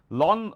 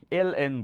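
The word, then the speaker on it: ln: লন, লনের অঙ্ক অনেকে বলে না, ইভেন আমি গাইড বইগুলোতেও দেখছি 19 লনের অঙ্ক, লন বইলে কোনো অপারেটর নাই, এল এন বলে এটাকে। আর লন এল এন রে একবারে উচ্চারণ করে মানুষজন বলে, বাট এল এন দ্বারা বোঝায় ই ভিত্তিক লগ।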